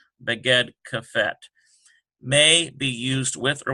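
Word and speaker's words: בגד כפת: This has been explained in other ones, conveniently pronounced Beged Kafet.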